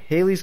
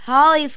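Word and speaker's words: Halley's: yeah the comic guy Haley's Comet it's pronounced Holly's Comet not Haley look I've about had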